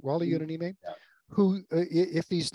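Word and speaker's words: Wally Yonamine: Am I pronouncing that right? Wally Yonanime, yeah.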